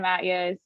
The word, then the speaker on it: Matyas: a little bit absolutely and kudos on the pronunciation because i know my last name is a tough one hi everyone my name is matias i'm real estate trails